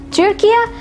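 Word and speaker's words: Türkiye: Next, you have Turkey, which is pronounced as Turkia.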